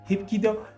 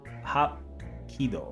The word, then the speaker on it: Hapkido: Wait, I'm saying it all wrong. Hapkido, okay. Hapkido.